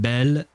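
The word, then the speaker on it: belle: For uh for a dude it would be bo written B E A U and bell uh for a woman uh which would be written B E uh L E which is very like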